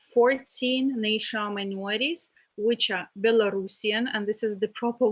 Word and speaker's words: Belarusian: the representatives of 14 national minorities which are belarusian and this is the proper way to pronounce this uh adjective bulgarian creation hungarian german